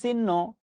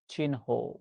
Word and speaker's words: চিহ্ন: শব্দটা অনেকবার পরীক্ষায় আসছে আমরা বলি চিহ্ন বাস্তবে উচ্চারণ হচ্ছে চিহ্ন ক্লিয়ার থ্যাংক ইউ পরীক্ষায়